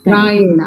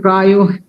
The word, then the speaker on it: प्रायेण: Prayena. I think I pronounced it prayo. Yes. Prayena.